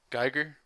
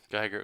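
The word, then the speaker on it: Giger: Guyer. Is it It's Guyer, right? Am I saying his last name wrong?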